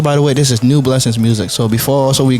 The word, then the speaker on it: Nueblessings: Nueblessings on all platforms.